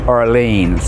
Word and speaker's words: Orleans: royal orleans hotel and that's the way they pronounced it arlene's hotel so anyway we moved